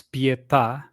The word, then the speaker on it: Pietà: Um well, just a small comment there, it's Pietà, and that means mercy um in uh translated.